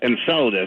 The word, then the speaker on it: Enceladus: It's pronounced Enceladus. Enceladus, tomato, whatever.